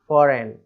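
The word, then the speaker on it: foreign: next है फॉरेन, अब इसमें भी सेम वही चीज़ है, एन के पहले जी आ रहा है, कई स्पेलिंग होती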